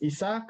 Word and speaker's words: Isaac: right right I am my name is isach or Isaac depending on how you want to pronounce my name I make you I